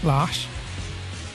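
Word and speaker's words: Lars: it's spelled LZ but it's actually a Swedish name pronounced lash so I'm calling him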